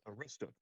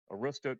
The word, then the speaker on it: Aroostook: I don't even know how to pronounce that. The Aroostook Strangler. Am I incorrect or correct? That's Aroostook. That's Aroostook County is the northernmost county in Maine, hence the Mainer event.